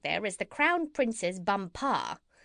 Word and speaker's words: Bumpar: She became his chief wife, and is now known out there as the Crown Princess Bumpar. You accent the last syllable."